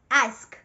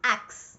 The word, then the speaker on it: ask: Exactly as it's spelled. Ask. The S before the K. Ask. Not axe.